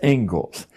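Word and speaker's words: Inglis: is the ingalls lecture looks like english but it's pronounced ingalls and i would like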